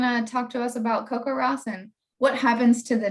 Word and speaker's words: CoCoRaHS: service he's going to talk to us about coco ross and what happens to the data once it's